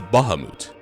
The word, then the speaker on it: Bahamut: Yeah, apparently that's how the name is pronounced. I used to call him Bahamut as a kid, but later Final Fantasies would indicate that that is not how it's pronounced.